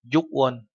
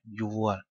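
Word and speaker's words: 유월: tháng 6 và tháng 10 thì đổi thành Yuon và Siwon. Các bạn chú ý, không phải là Yukwon mà là Yuon.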